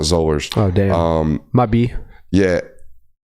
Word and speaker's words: Zollers: the school and Matt Zollers' name. Which Coach. I just mispronounced again. Zollers. Zollers. Think Frederick Zoller from correct. No, he said think baller. Think baller.